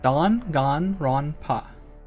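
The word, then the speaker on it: Danganronpa: This this game it is Don Gone Ron Pa. I would be surprised if there's any other way to pronounce this considering um it is straight up kodakana.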